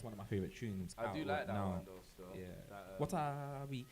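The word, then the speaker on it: Watawi: of my favorite Tunes what are we it's crazy because it's spelled how it sounds in it w-a-t-a-w-i tell me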